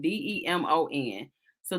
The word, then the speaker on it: Demons: his last name because he's saying it's pronounced demons like dim the light or demons lemons you know like that's supposed to be what it is but it clearly to